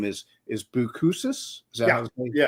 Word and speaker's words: Boucousis: It's actually you use the word boo because your your full name is and last name is is Buusus. Is that Yeah, it's hard to pronounce.